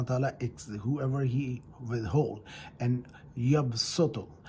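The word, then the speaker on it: يَبْسُطُ: Yaqbidu, Allah subhanahu wa ta'ala, whoever He withhold, and yabsutu. It is written with the swad, but it's pronounced with the sin.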